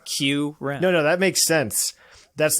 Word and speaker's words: Kyurem: it's Kyurem. And so it's Fight me, Kyurem! Fight me, Kyurem. Think of it like this: Ice Cube, Q-Rem.